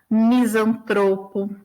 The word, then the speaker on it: misantropo: E aí a gente tem alguns casos, só para ficar claro onde é a sílaba tônica. Então, filantropo, ibero, ínterim, libido, Lúcifer, misantropo, ômega, pudico, rubrica e ruim, né?